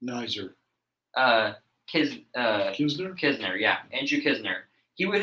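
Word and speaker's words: Knizner: How do you pronounce the name? Knizer. Nizer. Kisner, yeah.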